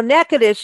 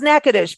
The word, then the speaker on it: Natchitoches: radios third Tuesday go to Natchitoches show now nakadish is the oldest settlement in the state of Louisiana and it's pronounced nakadish but it is spelled out as n-a-t-c-h-i-t-o-c-h-e-s uh